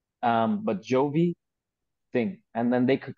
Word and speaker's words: Giovi: and then it's so like Giovanni not like a lot of people mispronounce my name they think it's only good so it's like Giovanni um but Jovi thing and then they